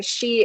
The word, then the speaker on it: Sidhe: By the way, Shi is spelled Sidhe, but it's pronounced Shi.